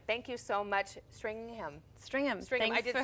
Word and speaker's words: Stringam: One of my very new dear friends, Stringham. Thank you so much, Stringham.